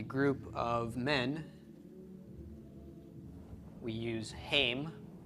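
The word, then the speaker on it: הם: referring to a group of men we use hame hame is they masculine a group of women is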